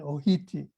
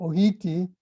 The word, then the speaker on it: ʻōhiti: T sound, like makahiti, they would say it like that. And so, or hiti meaning arrive, and ohiti. So you should stand behind that Maui pronunciation for this crab.